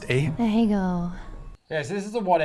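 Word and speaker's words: Ahegao: What is the, how's it pronounced? Ahego.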